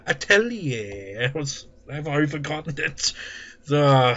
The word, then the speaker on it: atelier: It's pronounced 8 lie with an R at the end. What? 8 liar? No. Atelier.